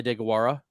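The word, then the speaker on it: Deguara: respectable blocking Titan Josiah dagawara but uh tigercraft was also that name again for me please Josiah de gawara that's pretty good pronunciation thank you I was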